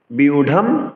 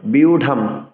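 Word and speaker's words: ব্যূঢ়ং: বিউঢ়ম দুর্যোধনস্তদা ৮। সংস্কৃত শ্লোক উচ্চারণে অন্তস্থ জকে ইয় উচ্চারণ করতে হবে, বিউঢ়ম।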